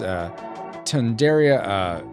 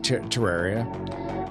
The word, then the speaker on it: Terraria: Neko says, yes, it's Tundaria, whoops, I said it wrong, Terraria.